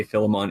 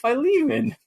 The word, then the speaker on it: Philemon: care also they say philemon in the game sure um but i just now i was like wait a second i know what philemon is that's from the bible and it's pronounced by lehman wait a second just